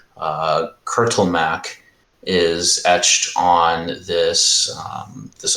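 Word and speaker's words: Kurtulmak: but you can tell that the name uh curtle Mac is etched on this this altar can you spell that for me and yeah k-u-r-t-u-l-m AK um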